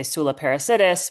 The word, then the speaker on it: Soula Parassidis: but yeah, when I'm in North America and where I grew up in Canada, we just say Soula Parassidis.